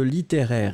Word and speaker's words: littéraire: Alors, nous étions à la recherche de littéraire ici. Littéraire, eh bien, vous l'écrivez L-I-T-T-E, accent aigu R-A-I-R, et vous le prononcez littéraire.